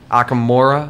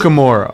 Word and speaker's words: Amukamara: veterans come back, or Akamora, I think is how you pronounce that. Just go with Prince. Amukamara. Okay, Prince Amukamara. Yeah, actually, that is the right way.